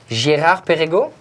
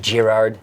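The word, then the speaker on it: Girard-Perregaux: Gérard Perregaux. You won't have to pronounce the D at the end of, it's not Gerard. Oh, maybe in English you will say that.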